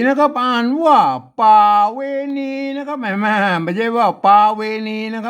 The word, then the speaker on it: ป๋าเวณี: ยาก อะหยัง นะ ครับ ป่า เวที มา อ่าน ว่า ป่า เวณี นะ ครับ ประเวณี อัน นี้